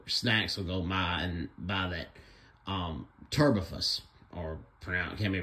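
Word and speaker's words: Terbufos: There's this turbofus. It can be pronounced table force, but it's spelled T-E-R-B-U-F-O-S. Sometimes it's pale yellow or yellow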